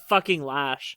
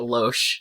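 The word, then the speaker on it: Loesch: Dana lash oh is that how you pronounce that I've been pronouncing it LO I only know I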